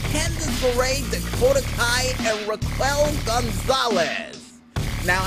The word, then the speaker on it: Raquel Gonzalez: Now, I've been told before I got the name wrong, and it's actually Raquel Gonzalez, but I see a Q in there, and my brain don't know how to process it, so yeah, Raquel Gonzalez it is.